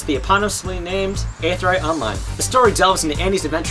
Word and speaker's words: Aetherite Online: Okay, let's take a moment and just pronounce that out because that's a common question that I get. Aetherite Online.